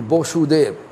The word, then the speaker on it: Vasudeva: section, they may say, why my pronunciation is not right. No, it is Vasudeva. Because they are pronouncing Vasudeva, both are Vasudeva.